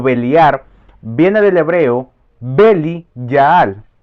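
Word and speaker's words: בליעל: beliar viene del hebreo beli yaal se escribe b e l I y a y L beli yaal pero su transliteración fonética o su manera de pronunciarlo es beel jaal y esto significa atentos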